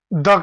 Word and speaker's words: the: अब अंतिम बात यह है कि उच्चारण में द, THE, द कहां यूज करते हैं और THE को दी कहां बोलते हैं? तो जिस नाउन का पहला लेटर वॉवेल हो, जिसे दी एप्पल, उसको दी बोलते हैं उच्चारण में, दी एप्पल।